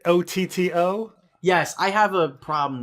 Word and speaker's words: Otto: nine on the brain it's not odo auto isn't it isn't it otto yes i have a